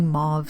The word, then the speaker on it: mauve: this is like a dark dusty mauve slash move both pronunciations are correct FYI and just a really